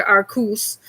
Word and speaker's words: Arceus: in semi blind for legends arceus or as we pronounce it here are cous i feel like that